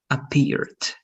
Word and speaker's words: appeared: This one also, the pronunciation was correct, but the ed was not noticeable. So appeared, appeared.